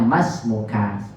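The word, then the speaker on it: ما اسمك: Man anta ini ma ismuka. Dibacanya masmuka begitu ya.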